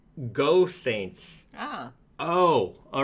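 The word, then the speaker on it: Geaux Saints: the chat who know they know I'm sure no Saints knows um just just teasing you a little bit uh it's actually pronounced go Saints ah oh all right so like a football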